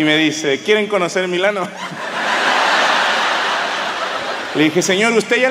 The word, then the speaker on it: Milano: ahí me explicaron que no se dice milán se dice milano yo no dije nada